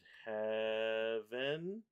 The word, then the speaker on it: heaven: Ven, and nature sing, and heaven. It's technically heaven as one syllable.